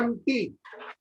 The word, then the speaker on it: empty: कई बार कुछ alphabet silent होते हैं, EMPTY लिखा जाता है एम्प्टी और पढ़ते हैं MT।